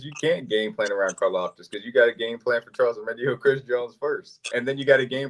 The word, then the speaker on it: Karlaftis: you're gonna have to start game planning around Karlaftis. Did I say his name right? I got it right. Yeah, I feel good. I felt good about that. You can't game plan around Karlaftis because you got a game plan for Charles